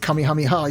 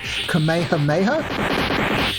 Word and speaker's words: Kamehameha: supposed to pronounce it Kami hamiha you're meant to pronounce it Kamehameha because it's named after a Hawaiian King called kameha Maya but